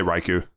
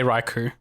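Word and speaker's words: Raikou: is raiku man riko how do you say that one I I say raiku yeah I also say raiku um but I'm thinking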